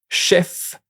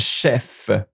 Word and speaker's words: chef: Watch out for neuf and chef. The final V is pronounced, which isn't always the case with French consonant.